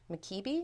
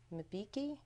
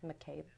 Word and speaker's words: Mbeki: the discussions in Washington last week with President Mkibi? Is that how you say it? Mbeki? Sorry, Thabo Mbeki.